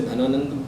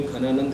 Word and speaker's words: घनानंद: जिसका नाम था घनानंद यहां पर आपको वर्ड दिख रहा होगा धनानंद तो इंग्लिश वाले इसे धनानंद प्रोनाउंस करेंगे लेकिन वह हिंदी में घनानंद कहलाता है तो नंद वंश